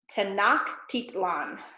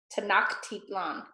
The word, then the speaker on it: Tenochtitlan: Tenochtitlan. Tenochtitlan, okay? There's gonna be several difficult names to pronounce because Spanish is none, I don't think it's any of our native language.